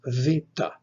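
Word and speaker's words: βήτα: Next comes vita. Vita is pronounced like the V in the word vat.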